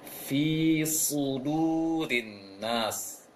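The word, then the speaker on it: فِي صُدُورِ النَّاسِ: Jadi gambarannya bunyinya ditebalkan, jangan shu tapi su.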